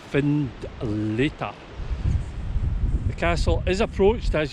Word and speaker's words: Findlater: come and attack this the name finletta comes from the gaelic foin letter meaning white cliff and it's pronounced find leta the castle is approached